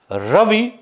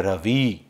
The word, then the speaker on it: रवि: अंतर से होती है जैसे रवि शुद्ध उच्चारण है लेकिन हम आमतौर पर उसको अशुद्ध रूप में कहते हैं रवि शांति शुद्ध उच्चारण है